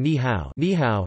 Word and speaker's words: 你好: Additionally, when two third tones appear consecutively, such as in ni hao, hello, the first syllable is pronounced with the second tone.